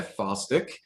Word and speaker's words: Faulstich: so uh today we will be interviewing fawstik am i pronouncing that correctly yes okay uh and i i just like i had a weird mental breakdown right there so yes uh falstick from uh frank h harrison middle school and